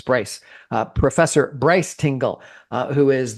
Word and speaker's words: Bryce: Tingle has just corrected me and said that I mispronounced his name. It's not Bruce, it's Bryce.